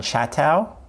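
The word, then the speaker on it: Chaitow: researcher his name is Leon chato I think that's how you pronounce his name he actually just died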